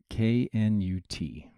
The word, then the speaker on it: Knut: So just to put it out there, Canute is spelled K-N-U-T.